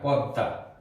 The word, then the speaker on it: পদ্মা: তাহলে আমরা লিখতে পারি পদ্মা, এই ময়ের উচ্চারণ হবে না, দয়ের সাথে ম যুক্ত থাকলে সে ময়ের উচ্চারণ হয় না, দ দুইবার উচ্চারণ হয়, পদ্মা।